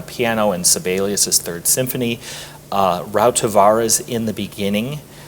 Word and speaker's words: Rautavaara: Rautavaara's In the Beginning. How do you pronounce?